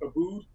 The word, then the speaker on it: Aboud: basically my first name it's a bo u D it's pronounced Abood so you could just